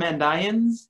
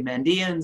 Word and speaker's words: Mandaeans: we get the term and ions in text and I pronounced that way oftentimes English speakers say mandaeans and that's fine I collaborated on a